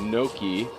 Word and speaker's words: gnocchi: So, like, it's actually pronounced gnocchi.